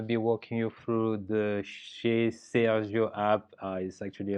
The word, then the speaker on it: Chez Sergio: walking you through the she says your app is actually a little bit of a french spelling there or french pronunciation uh this is an